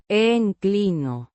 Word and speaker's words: inclino: Pronounced een-klee-noh. with a soft En. sound and a slight stress on the second syllable.